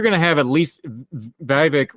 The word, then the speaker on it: Vivek: So you're going to have at least Vivek rhymes with snake, rhymes with fake.